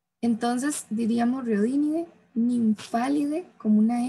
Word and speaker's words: Nymphalidae: vamos a ver que el PH se va a pronunciar como una F y el AE es una E. Entonces diríamos Rhodinidae, Nymphalidae como una F, Pieridae y Papilionidae.